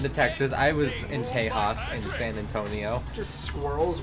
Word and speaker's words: Tejas: But everything's bigger in Tejas. And? Everything's bigger. It's pronounced Tejas, thank you. Tejas.